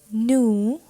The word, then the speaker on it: nous: he which is she nu that is v we are not pronouncing s over here and it is nu